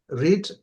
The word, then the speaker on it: read: read, এখানে দেখা read, যাচ্ছে যে রিড, এটা spelling is the same in past form like রিড, দেখা যাচ্ছে read, বাট উচ্চারণটা হবে, দ্য প্রোনাউন্সিয়েশন হবে রেড। read, হ্যাঁ, read, আচ্ছা, রিং